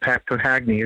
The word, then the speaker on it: Papagni: A little difficult for me to say, but Papagni is how you say it.